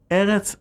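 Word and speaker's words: ארץ: In other words, Eretz effectively changes its pronunciation whenever the Hebrew definitive article is added, turning it into Haaretz.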